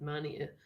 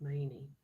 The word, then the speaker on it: Maney: I got really confused with the pronunciation of that place because at first I thought it was pronounced Mania, and then I had the announcement that said Maine. Yes, it is Maney.